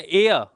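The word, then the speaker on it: heir: तो इसको बोला जाता है एय। एय का मतलब होता है वारिस। क्या होता है? वारिस या उत्तराधिकारी। तो इसमें भी एच साइलेंट है।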